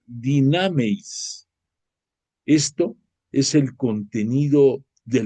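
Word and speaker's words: δυνάμεις: La palabra portento viene del griego, pero sobre todo hay una acción que tiene un nombre griego que se llama, que se pronuncia dinameis.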